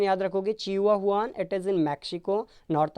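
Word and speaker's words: Chihuahuan: चिहुआहुआन, pronunciation याद रखोगे, चिहुआहुआन, इट इज़ in Mexico, north America obviously.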